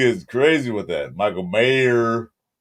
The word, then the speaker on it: Mayer: At least say his name right. Michael Mayor said it right. Mayor, there's no S.